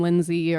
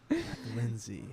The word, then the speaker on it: Lynsea: Lynsea. Yeah. Where's the A come in though? The A is silent technically.